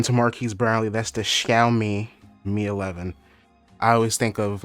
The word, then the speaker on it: Xiaomi: xiaomi i should probably look up how to pronounce that correctly according to marquise brownlee that's the xiaomi me11 i always think of like shout you